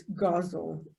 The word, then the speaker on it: guzzle: And I like to say guzzle, even though I know it's guzzle or rhymes with puzzle.